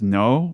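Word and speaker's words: Noh: So the story begins with this vision of this mysterious woman in a kimono and what is called I believe it's pronounced No mask, N-O-H, Japanese theater mask.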